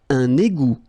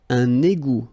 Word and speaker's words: un égout: Un égout. Okay, little link between the two. Un égout. Final T not pronounced.